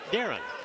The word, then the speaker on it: Darian: The Bulldogs head coach spells his name D-A-R-I-A-N, but he pronounces it Darren.